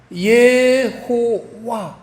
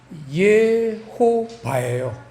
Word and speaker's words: 여호와: 그렇게 발음이 됩니다 하지만 예호와고 발음해도 틀리지 않아요 그 우리 한국에서는 예호와 그 와를 택했어요 그래서 이제 예호와 우리 한국에서는 여호와 이렇게 이제 발음을 합니다 근데 원래 발음은 예호바 그래서 이제 미국에서도 제호바